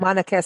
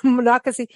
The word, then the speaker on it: Monocacy: name of that um I keep saying Monaco but whatever but Monocacy that when I I